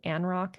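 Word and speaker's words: Anrok: One of the platforms that we are moving our clients to that have international nexus is a system called ANROCK. It's spelled A N R O K.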